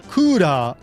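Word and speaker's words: クーラー: This is a name based on the Japanese word kura. Kura with the long a vowel at the end means air conditioner.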